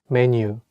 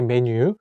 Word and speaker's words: 메뉴: Menu, menu, menu, menu. So it's following the same pronunciation. Like in Korean, we also say menu, or we also have